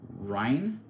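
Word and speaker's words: Varian Wrynn: Varian Wyrn? Oh, Rhine?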